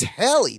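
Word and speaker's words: Halley: it actually different and proper I it's it's haly not Haley is that how it's supposed pronounced people pronounce it Haley but it's like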